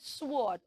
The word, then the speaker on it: sword: last time very good so we did not say sword it has a silent W so we will not say the W sound we will only say sword sword okay and then